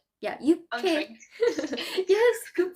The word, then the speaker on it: 육회: That's what we call 육회. Yeah, 육회. Yes, good pronunciation.